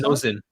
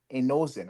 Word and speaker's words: Nouzen: How do you say his last name? Inusa? Nozen. Inozen, right? No, oh no. Nozen.